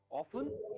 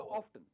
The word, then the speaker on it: often: ऑफन या ऑफ्टन दोनों कह सकते हैं। ऑफ्टन है ना ज्यादातर अमेरिकन यूज करते हैं, पर मैं आपसे सजेस्ट करूंगा कि आप ऑफन यूज करो, क्योंकि यही ज्यादा यूज होता है। ऑफन जब आप कहते हो ना तो टी है ना साइलेंट हो जाता है, ऑफन। पर जब आप ऑफ्टन कहोगे तो टी बहुत ही प्रोमिनेंटली प्रोनाउंस होता है, ऑफ्टन।